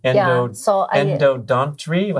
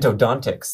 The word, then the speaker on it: endodontics: Okay, so you're doing endodontry? How do you say endodontics. It? Endodontics.